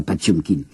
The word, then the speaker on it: Potemkin: Nous prononçons Potemkin, un cuirassé Potemkin. Paraît-il qu'il faut prononcer ça, Patchumkin.